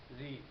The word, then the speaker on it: ঋণ: এই রিটি রেপ রয় উচ্চারণে আমাদের মুখে আসে, ঋণ।